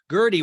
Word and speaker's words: Guerdy: Gertie, which is spelled Guerdy.